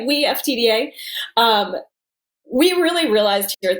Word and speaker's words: WeFTDA: So WeFTDA, that's how we pronounce it. We Collective, right? WeFTDA.